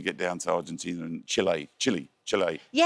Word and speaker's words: Chile: So I was told specifically by the English-speaking South Americans that I was saying it wrong and I needed to call it. It's not Chile, it's Chile.